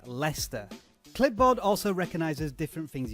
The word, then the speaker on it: Leicester: And by the way, for non-English people, that word is pronounced Leicester.